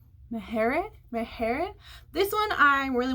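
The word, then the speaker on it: Maher: Nicole how do you say her last name Mahar Mahar this one I really wanted to read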